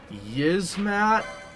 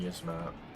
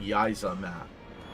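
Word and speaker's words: Yiazmat: Ancient Mana Mystery, and Yizmat. Bolito and Yizmat. We used to pronounce it Yizamat. There's no A in between Z and M, so I don't know.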